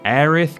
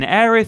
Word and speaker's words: Aerith: aerith Gainsborough Final Fantasy VII we've talked about the shocking and untimely death of aerith Gainsborough or Eris Gainsborough if you want to get the other pronunciation about this in previous lists but honestly